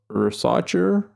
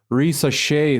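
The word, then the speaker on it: Risacher: Doncic wins MVP, Zachary Rosachere wins Rookie of the Year, Amin Thompson, Risa Shea, sorry, that's how you pronounce his last name.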